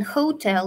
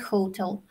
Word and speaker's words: hotel: okay yes you're absolutely right but mind your pronunciation Hotel not Hotel this dress is on the second syllable yeah